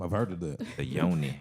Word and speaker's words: yoni: So does this stuff like with Yanni? Is that what Yanni is? Is that Well- what this the Yanni steam? I've heard of the The yoni. It's Yoni. yoni. Yanni. I'm saying it wrong.